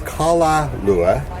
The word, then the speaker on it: Kala Lua: Well, technically it's Kala Lua. Kala Lua. Is Okay. how we're told it's really pronounced.